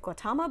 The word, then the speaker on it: Gautama: This very clear reference to the Buddha, I believe you pronounce it Gautama Buddha, who, according to tradition, sat beneath a Bodhi tree and didn't get up until he had reached enlightenment.